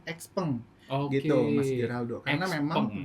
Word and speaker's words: Xpeng: Ada yang bilangnya sipeng atau siupeng gitu ya, Xeng atau peng. Nah, biasanya mereka nyebutnya masih random-random seperti itu ya. Tapi secara pelafalan kalau dari Chinanya sendiri kita sebutnya sebagai brand XP gitu Mas Geraldo.